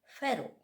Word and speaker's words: pharaoh: you pronounce it pharaoh.